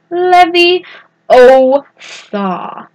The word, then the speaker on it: Leviosa: might want to write down the words it's leve o saw you'll want to make sure to put -